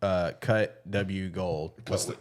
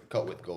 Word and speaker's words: CutWGold: That's how you pronounce it. Okay, That's cut why, with yeah, gold. some people don't. They probably think it's just Yeah. cut W gold, but yeah, it's cut with gold.